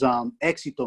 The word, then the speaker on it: éxito: page 151, it goes, éxito, mía thought. Éxito was a great word for success. Éxito sounds like exit in English. Mía thought of éxito.